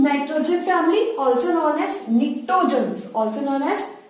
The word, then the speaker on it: pnictogens: Group 15, nitrogen family, also known as pnictogens, P is silent here.